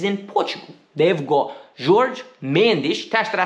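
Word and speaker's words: Jorge Mendes: second one is in Portugal they've got George mandis that I say right very good I said it right George mendish signed to look for the club he's going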